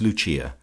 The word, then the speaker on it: Lucia: intimate of her subjects as Lucia, pronounced, of course, in the Italian mode La Lucia, the wife of Lucas.